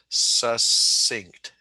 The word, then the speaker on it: succinct: word for short brief succinct okay it it does it's not pronounced like it looks it's pronounced succinct okay um okay so